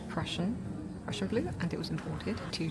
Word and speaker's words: Prussian blue: So it's a synthetic Persian blue. Oh, it's imported from Japan. That's cool. Imported to Japan, rather. Okay, so it's pronounced Prussian blue, and it was imported to Japan from Germany.